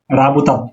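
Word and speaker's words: работать: কাজ করা, এটা রাশিয়ান উচ্চারণ হলো রাবুতাত, রাবুতাত, রাবুতাত, রাবুতাত।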